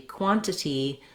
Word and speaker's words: quantity: So often when there's an NT blend in the middle of a word, words like internet, we tend to say internet, international, we might say international, and similarly quantity, many Americans, including myself, will say quantity rather than quantity.